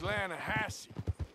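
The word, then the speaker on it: Lannahechee: some beautiful steelhead drought you mean the lanahashi river no no no no no the the lana hatchy it runs right near here yeah but it's pronounced landhassy why is everything in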